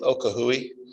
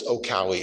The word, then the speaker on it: Okahui: We've always called this one Okahui because it's fun to say, but apparently it's Okawi is the proper pronunciation.